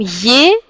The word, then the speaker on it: е: Il se prononce comme yé quand elle est accentuée.